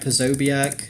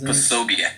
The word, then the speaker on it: Posobiec: It's Jack Posobiec, I think. Posobiec. Posobiec. Posobiec. Posobiec. It's like Polish.